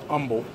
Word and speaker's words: Humble: There's an H there, but everybody here pronounces it Humble.